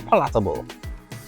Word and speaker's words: palatable: are a little more palatable. Palatable. Okay, cool. Emphasis on the wrong syllable.